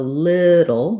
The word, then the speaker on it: little: a and an o so little little for little and then it'll is just the same it sounds like it'll or um these are meant to be the same so it'll and little same ending even though we spell this one with two l's and we spell this with ellie they both have that syllabic or dark l sound little in the dictionary